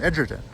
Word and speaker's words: Edgerton: Now, at the town clerk's office, first of all, I learned that you pronounce Jim Edgerton's name Jim Edgerton.